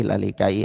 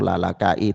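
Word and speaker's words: Lalaka'i: Lalikai atau Lalakai itu memang ada perbedaan ulama dalam membacanya ya. Sebagian membacanya alalikai, sebagian membacanya alalakai.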